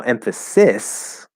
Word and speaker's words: emphasis: that's not a word now emphasis as a noun spelled s-i-s that is an s sound but emphasize is a